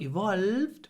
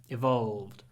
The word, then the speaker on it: evolved: evolved D about pronunciation try to use dark L which is uh we